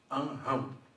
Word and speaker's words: Anrão: Dos filhos de Anrão, ou Anrão, porque tem um N que fecha a sílaba. Então o R, quando vem após uma consoante na posição de corda na sílaba, ele tem um som de forte.